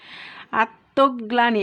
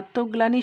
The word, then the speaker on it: আত্মগ্লানি: আমাদের রুলস অনুযায়ী যে এখানে যে বর্ণের সাথে লফালা যুক্ত আছে শব্দের মধ্যে কিংবা শেষে, সেই বর্ণটার দ্বিতীয় উচ্চারণ হবে আত্মগ্লানি।